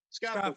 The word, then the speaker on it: Scaffold: That if I'm pronouncing Scaffold, that correct. Scaffold.